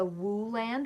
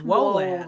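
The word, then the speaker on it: Wöland: Well, first of all, it's Woland. Woland. And it's a place and a name. W-O-E. It's a place and a name. It's pronounced a little differently as a name, but it is a name too. Indeed. The umlaut over the O makes it Woland.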